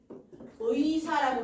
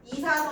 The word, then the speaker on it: 의사: 단어의 첫절에 오는 의는 의로만 발음해요. 자 단어의 처등에 오는 의. 요거 자음이야? 아니야? 아니라 그랬어요. 아니야. 얘 모음이야. 어. 이럴 때는 의사라고 대답해야 돼. 의사라고 발음해야 돼. 의사 선생님 안 돼요. 이사 선생님 안 돼요. 의사. 혀가 의사. 뒤에서 앞으로 나와야 돼.